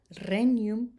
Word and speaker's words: regnum: Regina, regnum, there's the GN, ny sound, regnum, and rex.